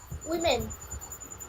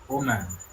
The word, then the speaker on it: woman: আচ্ছা, এবার বলো, WOMAN কি উচ্চারণ হবে? উইমেন। WOMAN। উইমেন। আরে, আমি কি, আমার কথাটা শোনো, WOMAN কি উচ্চারণ হবে? ওমেন। ওম্যান।